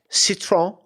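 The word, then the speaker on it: Citroën: this Kurt corrected me on how these are pronounced okay Citron it's like c i t r e o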